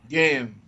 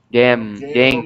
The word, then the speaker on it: gehen: Gehen. Gehen ou ir. Gehen. Você fala assim, gehen, né? Uhum. Gehen. Uhum. Ir. O H não é pronunciado, tá?